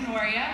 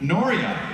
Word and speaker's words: Noria: My name is Noria, which is also kind of hard to pronounce. Like Noria. Yes. That's a breeze compared to Kamau. Nora, Gloria, and like anything.